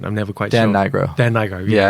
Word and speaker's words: Nigro: How do you pronounce Dan's surname? I always see it. I'm never quite Dan sure. Nigro.